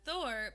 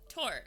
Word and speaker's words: Thor: a bit like mine people pronounce it thor but in norse it's tor i'm sorry thank you